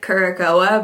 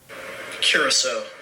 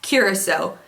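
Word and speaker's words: Curaçao: I always want to pronounce it Curacoa, but I know that's not right, so here it is. Curacao. I was so off. Curacao. I'm sure that's not right. Look at how it's spelled. The ship that traveled in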